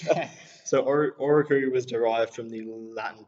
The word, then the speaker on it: Oracui: Oracui. Yeah, Oracui. And you're probably thinking right now, what on earth does Oracui mean, right? Yeah. So Oracui was derived from the Latin term oracle, which